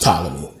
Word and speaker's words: Ptolemy: you could say tyler me i say the talony is just a thing but it's pronounced ptolemy but um they got into a war and